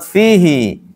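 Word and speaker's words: فيه: yang di sini ini satu-satunya kalimat fihi dibaca panjang dalam al-qur'an cuma satu saja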